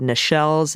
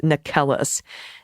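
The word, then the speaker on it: Necheles: and by the way I've mispronounced her name Susan nikelis quite a bit I've said Michelle's I've said Nichols it's nikelus uh and Joe takapina lawyers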